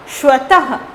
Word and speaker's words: स्वतः: ठीक है, इसका उच्चारण ह की तरह होता है, जैसे स्वतः, स्वतः, लास्ट में ह का उच्चारण जैसा लग रहा है ना, स्वतः, प्रातः।